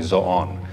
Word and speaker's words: Zoon: It's not supposed to be pronounced Zoo. It's actually Zon.